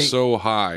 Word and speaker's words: Asahi: Yeah, be He's like, so high is how it's pronounced.